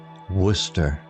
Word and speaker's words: Worcester: The villagers found it peculiar how Sir Worcester's name was pronounced. Worcester.